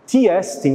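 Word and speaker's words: τί ἐστι: marcada pelo que é, em grego se pronuncia de forma bonita, o tiestin, ou seja, qual é a essência daquilo que nós vamos perguntar.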